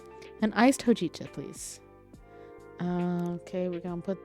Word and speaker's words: hojicha: My brain says hojicha. Oh yeah, that's how. Well, that's how Google says it, and Google can never be wrong, right? An iced hojicha, please.